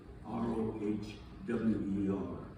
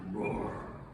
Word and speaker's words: Rohwer: The camp is called Camp Rohwer, r o h w e r. And the way they pronounce it, it sounded like Rohwer.